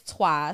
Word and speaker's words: Trois: So either way, the name of the movie is Tua, spelled T R O I S.